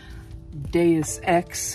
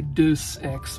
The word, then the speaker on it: Deus Ex: stuff Borderlands triple pack Deus Ex human Revolution so that's that's how you say it right I had a friend say Deuce X once deuce deuce x a